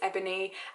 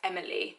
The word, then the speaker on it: Eboni: environment I will say my name is ebony and the person who hears me usually they're white will kind of say it back to me as Emily this happens to me